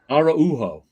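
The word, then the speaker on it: Araújo: Andre Lima Araujo. Hold on. The U is its own syllable. Araujo.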